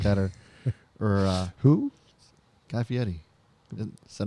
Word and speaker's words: Fieri: Guy Fieri. Is that not how you say it? Fieri? It is, but you just became Italian real quick. Fieri?